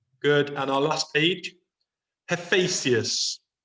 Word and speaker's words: Hephaestus: Hephaestus. Hephaestus.